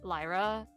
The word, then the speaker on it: Lyra: it I'm sorry um I think I think we pronounced it Lira because it's more similar to like a Japanese pronunciation of that yeah probably uh but